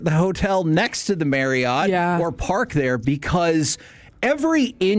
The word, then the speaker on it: Marriott: It's pronounced Marriott.